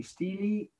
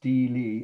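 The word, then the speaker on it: stele: wasn't jewish okay uh so again it's the steely or stila it's how the pronounced but it's most often pronounced stili of hammurabi the location is iraq yet again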